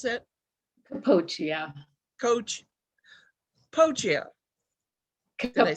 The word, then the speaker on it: Capoccia: But we're joined today by Coppola, or I'm sorry, how do you pronounce that? Capoccia.